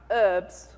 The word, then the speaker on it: herbs: Who's American in the room? All right, herbs. There's no, you don't pronounce H's here, right?